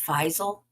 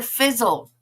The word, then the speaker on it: Faisal: His name's pronounced Faisal. I liked it better, Fizzle. I liked it better when I thought his name was Fizzle.